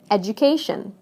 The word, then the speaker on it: education: Adding this to educate becomes education.